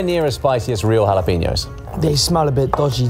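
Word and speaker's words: jalapeño: yeah wait is it jalapenos or is it jalapenos I think it's jalapenos so why is there a j it's silent it's a silent but if it's silent take it out I mean that would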